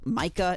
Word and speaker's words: Micah: video about this guy Mike Micah yes it is pronounced Micah not Ma I've botched so many